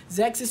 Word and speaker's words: Xexex: pronounce the name exis the proper way to pronounce this car's name is zexus zexus or ZX tomato tomato however you want to